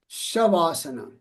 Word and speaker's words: Shavasana: Um, when you say shasana, you use you pronounce the V like a W. No, no, no, no. So, the the word is shavasana.